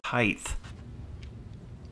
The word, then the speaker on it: height: has eight no this is high it has height s shut the up you